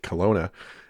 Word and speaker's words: Kelowna: Now, Kelowna is spelled Kalona, so it should be Kalona perhaps, but they pronounce it Kelowna.